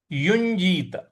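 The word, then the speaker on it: युञ्जीत: युजीत सततम योगी युजीत य पे य के पे जो ञ का जो शब्द आ रहा है यहां पर थोड़ा सा हमें आघात देना है। योगी युजीत युजीत अया का शब्द इसमें उच्चारण होगा।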